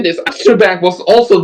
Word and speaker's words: Trebek: Alex Trebek, Yeah, Tor Tobrak. I can pronounce One that name. not Alex Trebek. I'll say it. yeah, Alex Trebek.